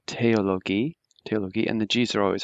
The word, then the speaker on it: Theologie: So remember that the THs are always pronounced like a T, so Theologie, and the Gs are always hard.